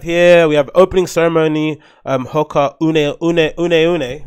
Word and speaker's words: Hoka One One: Hoka Une, right? As they pronounce them, One.